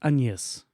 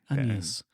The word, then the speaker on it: Agnes: Her name is spelt like Agnes, but it's pronounced Agnes. Agnes.